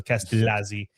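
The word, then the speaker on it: Castellazzi: I think it's I think double L is not Yah in Italian it's L. So Castellazi.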